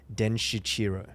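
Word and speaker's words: Denshichiro: know sanskrit words everywhere so i'm pretty sure it's den shichiro right okay what's the official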